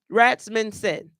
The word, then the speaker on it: Rasmussen: Rasmussen.